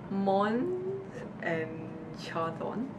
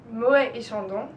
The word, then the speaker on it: Moët et Chandon: Mons and Chardon. Moët et Chandon.